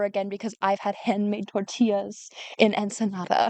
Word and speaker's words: tortilla: store-bought tortilla ever again because I've had handmade tortillas in Ensenada. it's pronounced tortilla."